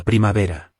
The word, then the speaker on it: primavera: Okay, so the spring is La primavera. La primavera. The V in Spanish makes a B sound.